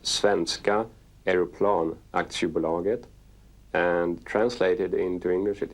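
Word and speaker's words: Svenska Aeroplan Aktiebolaget: funding approved the build-up began so that is four letters s-a-a-b and it stands for in swedish it's pronounced svenska aeroplan acts you belong it and translated into english it is swedish airplane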